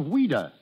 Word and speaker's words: Ouida: But why did she use the pen name of Ouida? Because as a child, that was the way she pronounced Louise.